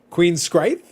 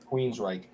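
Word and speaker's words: Queensrÿche: Queen Scrite. Yes. No, Queensryche.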